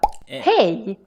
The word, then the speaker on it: hej: Hej. Hey. Hej is the Swedish way of saying hi. It's quite similar to English, just that we spell